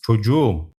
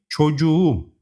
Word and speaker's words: çocuğum: If a word ends with K and gets a possessive suffix starting with a vowel, the K turns into a soft G. Çocuk becomes çocuğum.